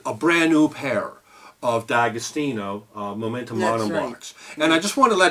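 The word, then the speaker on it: D'Agostino: had it's a a brand new pair of dagostino momentum mons and I just want to let everyone know uh and I was I this is the first I heard this I've always pronounced it Di austino and apparently uh Diamond I was talking with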